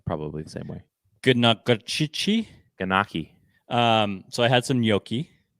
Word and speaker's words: gnocchi: Ganaki.